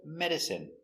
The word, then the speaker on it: medicine: Example, medicine. Margarine. Intestine. Genuine. Famine and jasmine. Let's take a closer look. Our first example, medicine. Pronunciation is in. Medicine.